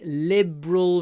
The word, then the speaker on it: liberal: one she has very liberal views two syllables Lial Lial Liberal Liberal Liberal views here we have a light L at the beginning and then BR dark at the end Lial Liberal Liberal the